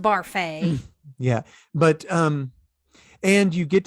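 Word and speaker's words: Barfée: It's pronounced Barfay.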